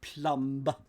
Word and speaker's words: plumb: ah there we go Plum it sounds like Plum so a plum job PLU M and if you delve into something you Plumb The Depths the be is silent it it it is